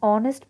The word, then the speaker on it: honest: board and are an honest person and here we use an before these words to because the h is silent in these words so r sounds like